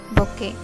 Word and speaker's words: bouquet: B-O-U-Q-U-E-T. The letter T is silent. It is bouquet.